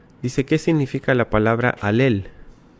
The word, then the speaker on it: Halel: Eh, y mucha gente erróneamente dice jalel. No es jalel, es alel. Alel.